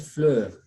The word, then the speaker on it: fleur: But we say in French fleur. Fleur. That is flower. In French we say fleur. Fleur. The R is pronounced.